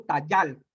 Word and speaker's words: tayal: llaman proceso morfofonológico, morfofonético, cuando se juntan la J y la Y, únicamente queda la y así tenemos que se pronuncia al final todo esto Tayal.